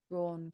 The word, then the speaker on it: drawn: Just be careful it doesn't become drawn. Just say that again. Curtains. Again? Drawn curtains. Drawn curtains. Yeah. I think what's not helping, I think you're lip rounding too much.